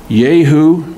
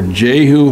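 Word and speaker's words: Jehu: is today's Syria also anoint Yu or juu however you want to pronounce it son of nimshi King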